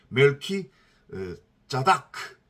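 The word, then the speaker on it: מלכי צדק: 살렘함 멜기세덱이 등장을 해요 멜키 짜다크 이렇게 원어로는 발음이 되는데 이게 거기에는 지금 뭐라고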